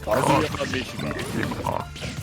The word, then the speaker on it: Kazuya Mishima: It's Kazuya Mishima.